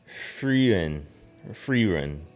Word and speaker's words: Frieren: Frieren.